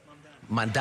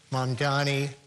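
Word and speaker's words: Mamdani: Mandi. Mandani. Mandani. Almost there. Okay, I'm getting it.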